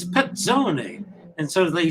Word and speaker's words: Pezzone: he said it's it's petzoni and so they said the two z's are like pizza z pezza pizzone and you